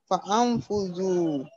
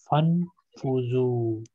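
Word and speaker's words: فانفذوا: Fa'anfuzu. No, Alif is silent here. Fa'anfuzu.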